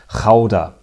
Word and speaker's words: Gouda: name known to cheese lovers the world over, Gouda. And in case you're wondering, yes, that is how it should be pronounced.